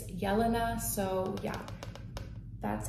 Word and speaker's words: Jelena: And my name is pronounced Jelena. So it's pronounced like with a Y. So not Jelena, not Jelena, not Jelena, not Helena. I get Helena a lot. It's Jelena.